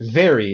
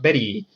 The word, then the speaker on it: very: They can say very, not Betty.